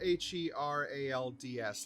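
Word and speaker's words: Herald's Rest: again the hanged man harold's rest is it harold's rest or herod's rest uh it's spelled h-e-r-a-l-d-s like the herald yeah that's one uh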